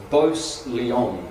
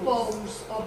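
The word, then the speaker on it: Bowes-Lyon: And he's a Beauce Leon. Have I said that wrong? Queen Elizabeth is a Beauce Leon. We know that, don't we? Beauce. More like Bose.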